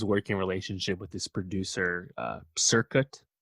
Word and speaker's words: Cirkut: Yeah, she has this working relationship with this producer, Circuit, I think is how you say it, Cirkut, who's a disciple of Dr.